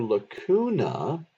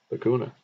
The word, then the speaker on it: lacuna: It rhymes. Lacootie, lacuna.